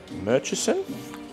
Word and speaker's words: Murchison: Merchesen.